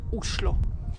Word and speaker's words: Oslo: And actually, in Norwegian, the right way to pronounce the name of the capital is Oslo.